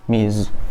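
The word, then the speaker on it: Ms: gini kedengaran sama Miss Tapi kalau ini bacanya pakai Z mizz hai hai Ayo kita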